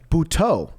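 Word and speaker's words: Butto: Bhau, not Joseé Buto. Bhau. That's new. Yeah. Yep. That's new. We We have to give him that respect of pronouncing his name properly.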